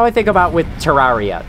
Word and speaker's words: Terraria: That's how I think about with Terraria. Terraria is the wrong way to say that game's name. But, like, you know, it is supposed to be pronounced Terraria, but I like Terraria a lot more.